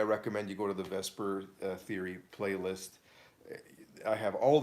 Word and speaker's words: VSEPR: Vesper is spelled VSEPR.